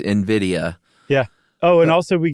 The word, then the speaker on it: Nvidia: Apparently it's NVIDIA.